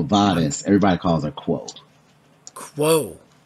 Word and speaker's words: Quo: Quo. Yeah, like Q-U-O, yes. Like quotation marks.